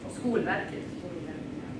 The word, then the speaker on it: Skolverket: So questions either about preschool in Sweden or about the, how do you say, Skolverket? Skolverket.